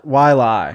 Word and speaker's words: Waialae: How do you pronounce the golf course name from this week? Wait, what? Waialae? Waialae.